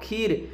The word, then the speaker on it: खीर: दीर्घई है तो KHIR खीर, खीर का जब हम उच्चारण करेंगे तो खी के बाद तुरंत र कहेंगे खीर, ठीक है ना, इसीलिए इसको ज़्यादा खींचा नहीं जा रहा है तो KH के साथ आई लगाएंगे, ठीक है ना।